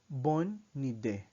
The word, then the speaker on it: bonne idée: Good idea in French is bonne idée. Bonne idée. Bonne idée. Notice that the N sound of the bon is connected with the E sound of the idée.